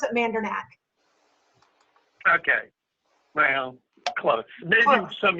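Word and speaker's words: Mandernach: us once again Jean Mander did I pronounce that right Jean actually we pronounce it with a harder k at the end you gave the official German pronunciation but we pronounce it mandac okay well close maybe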